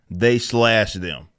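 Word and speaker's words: They/Them: film but they're saying that it's pronounced they slash them but it's just they them that's all that it is telling a queer empowerment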